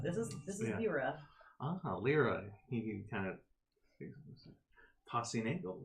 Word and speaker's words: Lyra: Lyra. Like song lyrics.